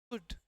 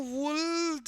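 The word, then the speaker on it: would: वुड. अच्छा, इसको वुल्ड नहीं बोलना है ना, वुड. This is silent.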